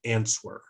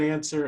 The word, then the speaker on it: answer: three years trying to get the W out of answer because they see the W in answer and they just want to use it and they learned it that way because that's how it reads and so it was